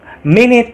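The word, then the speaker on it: मैं: Mene tumse pyar karta hu. Tulisannya main tumse, tapi dibacanya mene guys.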